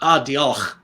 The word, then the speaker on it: Diolch: No, And it's oh, I gotta say Diolch. Is that how do you say it? Yeah. Thanks is Diolch. Diolch.